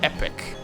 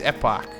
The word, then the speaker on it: epoch: Now, do you pronounce it epoch or epic? Epic? No, for me it's epoch. It's like, I don't know, it's the way it's spelled.